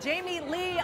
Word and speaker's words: Jamie Lee: We've got Jamie Lee O'Donnell. Yes. I said it right. Not Jamie Lang. Right, because everybody wants to make her. All Americans call me Jamie Lang.